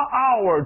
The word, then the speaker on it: hour: 叫做 I spend 什么 hour to do doing my homework an hour，为什么 H 又不发音，又靠着 O 来活了吧 an hour。